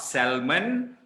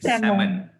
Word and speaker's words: salmon: with red meat okay believe it or not it's not salmon it's salmon it's salmon okay one supermarket uh my